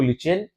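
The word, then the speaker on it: lichen: Show करते हैं, जिसको लिचेन, लिचेन इसका प्रोनाउंसिएशन है, लेकिन हम जब से बोलते हुए आ रहे हैं लाइकेन लाइकेन बोलते हुए आ रहे हैं। तो लिचेन या लाइकेन जो भी आप प्रोनाउंसिएशन करना चाहते हैं, ठीक है, ऑक्सफोर्ड इंग्लिश वाले तो वही करेंगे लिचेन, और अपने जो नॉर्मली जो सीबीएसई बोर्ड के जो होंगे वो लाइकेन बोलेंगे।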